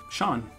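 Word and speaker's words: Seán: C-A-I-O-I-M-H-E, which none of those are pronounced. Okay. Queeva. Sean.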